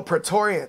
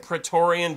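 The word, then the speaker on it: Praetorian: she's been hanging out with how do you pronounce that prian oh pretorian pretorian Jack right and he's showing her how to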